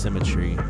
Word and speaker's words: symmetry: dear friend thy fearful cement try I think that's pronounced symmetry but it rhymes with I better that way yeah William Blake